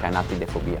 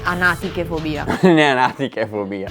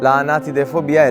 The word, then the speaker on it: Anatidaephobia: I guess it’s pronounced Anatidaephobia. Not “Anatichefobia.”